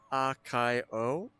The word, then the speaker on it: Akio: So, I normally pronounce it as Akio.